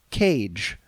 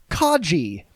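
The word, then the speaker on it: Kage: I pronounced it cage. Romero giggled. Who? What? What are you working on? I said it again. Now everyone was laughing at me. Romero. Who? Say it again. Me. Um. Cage. Romero. No, dude. It's pronounced kaji.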